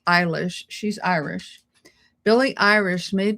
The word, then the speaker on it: Eilish: And I looked up how to pronounce her name, and it's Eilish.